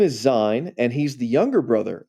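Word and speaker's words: Sein: English with a z it's spelled with an S but they say it like a z so all these German names again his name is Zion and he's the younger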